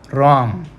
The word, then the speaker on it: wrong: Now the last one is wrong. Okay, so in this word we don't pronounce W.